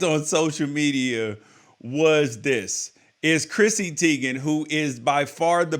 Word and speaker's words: Teigen: Something that we liked on social media was Chrissy Teigen, who is by far the best follow on